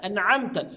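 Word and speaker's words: أنعمت: التوسط انع انعمت واوعى واحذر تماما انك تنطق التاء بالضم انعمت اه انت كده قلبت المعنى قلب تام لان انا بطلب الهدايه من الله عز وجل وانعمت التاء هنا تاء المخاطب فانا اخاطب الله عز وجل تخيل لو انت قلبت المعنى ققول انعمت صرت انت اصبحت انت المنعم وهذا خطا لا شك يبقى صراط الذين انعمت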